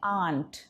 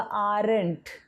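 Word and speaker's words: aren't: इसका प्रोनाउंसिएशन है आंट. आपने काफ़ी लोगों को बोलते हुए सुना होगा आरंट.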